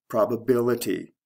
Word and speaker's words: probability: Probability. Stress shift from the first to the third syllable.